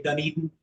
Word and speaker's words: Dunedin: I've visited Toronto many times myself, and it's enjoyable to hear them say Dunedin and hear them say it correctly.